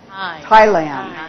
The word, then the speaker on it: Thailand: the focus word is Thailand right but the stress syllable or Peak syllable is Tai and that's where we